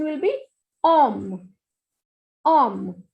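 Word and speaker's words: homme: The word is H-O-M-M-E and pronunciation will be om. Om. H will not be pronounced and the meaning is man.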